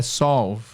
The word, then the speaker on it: solve: r do começo né só que não é sol não é solve é solve resolver solve tá a escrita é parecida mas a pronúncia não então I had to